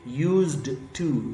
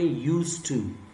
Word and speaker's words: used to: इसकी प्रनंसीएशन कैसे होगी इसमें जो अल्फाबेट दी है इसको हम लिखते तो है लेकिन इसको हम प्रोनाउंस नहीं करते जैसे हम इसको पढ़ेंगे आप नहीं जाएंगे यूज्ड तू ये गलत होगा आप इसे पढ़ेंगे उसे तू डेफिनेशन क्या है उसे